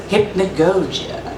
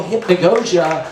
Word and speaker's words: hypnagogia: It's called sempiternal _hypnagogia. How do you spell that? Hypnagogia.